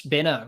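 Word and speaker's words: Benaud: the professional as always i have told them it is pronounced benno for two years yeah yeah richie benner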